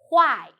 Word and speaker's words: 坏: hello I'm the word of today is why in this video I will teach you how to pronounce it how to write it and how to use it first let's read Gala women it do why huh oh I so u i together why